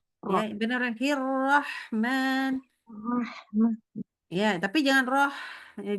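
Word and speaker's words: الرحمن: Nah, bukan hirroh bacanya tapi Bismillahirrah. Nah, itu agak ke A itu. Ya, benar Hirrahman.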